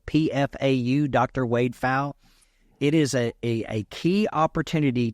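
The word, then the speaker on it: Wade Pfau: Wade Fowle, because at age 62, we had him on the show 2 weeks ago, and we did an entire show on reverse mortgages.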